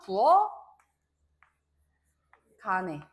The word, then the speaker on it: 부엌 안에: 자, 부엌 안에도 마찬가지로 키읔을 대표음인 기역으로 바꿔주고 키읔을 대표음 기역으로 바꿔주고 연음시켜주면 부엌 간에 이렇게 발음이 될 수가 있다라는 거죠.